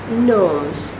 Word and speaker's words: gnomes: gnomes they're little elves gnomes you don't hear the g they're little bugs that